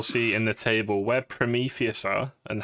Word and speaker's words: Prometheus: Prometheus.